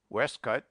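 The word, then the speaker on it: waistcoat: Pronounce as if written forehead, westcut, and primmer.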